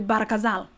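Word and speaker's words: Bahr el Ghazal: coming through brother so the proper way of pronouncing it is actually barakazal is that correct yeah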